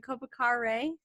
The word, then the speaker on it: Kopikare: Is it Kopikare? Yeah, Okay, Kopikare. Kopikare. Oh, see, I knew I would overpronounce the end of it.